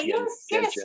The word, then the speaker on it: gentian: Yeah, my pronunciation is probably slightly dodgy, but it's GENTIAN I-A-N. Oh, sorry. Gentian.